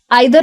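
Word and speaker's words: either: सबसे पहला और सबसे सिंपल वाला तो है ईदर और। आइदर और भी इसको बोलते हैं, दोनों प्रोनाउंसिएशन सही है।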